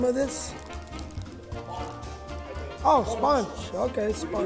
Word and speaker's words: Sponch: Oh, Sponch. Okay, Sponch. You gotta get a little Mexican. Sponch. Sponch. Yeah. Yeah. Does that sound Mexican? Yes, very much so. Sponch.